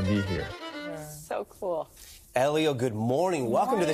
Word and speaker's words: Hélio: much oh my goodness i like the way you guys pronounce my name people sometimes call me hello julio hello which is okay which is okay but